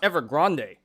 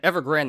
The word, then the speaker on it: Evergrande: grand actually it's pronounced evergrande apparently i've been calling it evergreen this whole time but apparently it's ever grande kind of sounds spanish you know um i